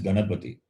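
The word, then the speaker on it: गणपति: Even if you try to say, you won't get Ganapati sound. You know the word is, the pronunciation is Ganapati. And if you try to say, use the tongue touching the base of the upper lip, then you will not get the sound and you won't be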